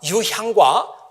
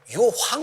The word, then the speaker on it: 유향: 동방에서 부터 가지곤 황금과 유향과 몰약을 선물로 되었습니다 많은 분들이 그 유향 이라고 발음을 안하고 유황 이라고 바라볼 해요 5 유학을 드렸다고 자꾸 그러는데 유황이 아니고 육상 입니다 아 또 아침에는 이